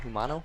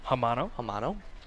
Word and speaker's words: Hamano: Another good block by, how do you say it? Humano? Hamano.